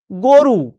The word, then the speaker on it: গরু: শেষ বল এর বাইরে কিছু এটা গরু। আমি লিখছি গ রস গরু। কিন্তু বাস্তবে আমি উচ্চারণ কি করছি? আমি উচ্চারণ করছি গো। রু এইভাবে তো উচ্চারণ করছি।